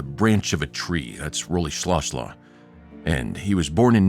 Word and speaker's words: Rolihlahla: And Nelson Mandela's full name is Nelson Rolihlahla Mandela, or even pronounced more closely in in the tribe of his people would be Nelson Rolihlahla Mandela. It means pulling the branch of a tree. That's Rolihlahla.